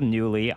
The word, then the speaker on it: Knulli: am bernick RG Cube XX this is called newly I'm going to spell it on screen here because it is a